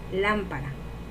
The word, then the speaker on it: lámpara: Lam es la sílaba tónica porque tiene acento y es la más fuerte de esa palabra. Y para es las sílabas átonas porque no llevan acento y son las sílabas que no tienen tanta carga de voz.